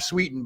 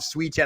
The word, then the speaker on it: Sweetan: Not not Bruiser Bob Sweden, but Bruiser Bob Sweeten.